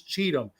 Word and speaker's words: Cheatham: His last name is Cheatham. Maybe not spelled that way, but that's how you pronounce it.